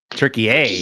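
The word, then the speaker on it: Türkiye: Turkey A. That's how it's yeah.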